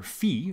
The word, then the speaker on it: phi: we'll often use the Greek letter phi, or phi, depending on how you like to pronounce it, to represent that number.